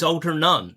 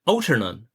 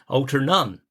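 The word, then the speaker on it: Altarnun: and they pronounced it Alternun. And the Cornish never pronounce it like that. They always stress the last syllable kind of thing. So it's Alternun, not Alternun.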